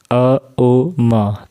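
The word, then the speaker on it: ॐ: अ ओ म 3 मात्राओं के साथ अ का उच्चारण जब करेंगे तो उस समय मुँह हमारी पूरे खुलेगी और पूरी ध्यान होगी हमारी नाभि के पास।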